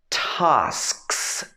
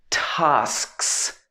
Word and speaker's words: tasks: Also, tasks, okay, tasks, tasks.